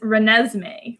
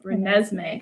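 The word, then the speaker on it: Renesmee: stumped people the answer to this one is reneesme reneesme because it's a combination of Renee and Es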